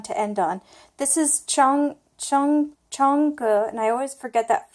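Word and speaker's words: 唱歌: This is Chongge, and I always forget that first vowel, but Chongge, 2 syllables, Chongge, and it's to sing.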